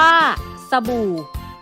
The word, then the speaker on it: สบู่: หรือ อักษร ต่ำ คู่ การ อ่าน จะ ออก เสียง เรียง พยางค์ ไม่ ต้อง ออก เสียง เหมือน มี หอ ห*บ นำ เคน ผัด ไทย อ่าน ว่า พระทัย สบู่ อ่าน ว่า สบู่ เผชิญ อ่าน ว่า ค่ะ